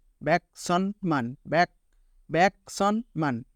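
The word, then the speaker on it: 천: কে বলা হয় সন সন কিভাবে হলো সিউতের সাথে অন এবং নিচে নিয়ন ন সন তাহলে টোটাল উচ্চারণ হলো সন সন আর এই সন মানে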